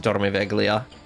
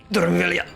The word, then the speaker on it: Dormiveglia: Also, it's not pronounced Dormiveglia. It's pronounced Dormiveglia.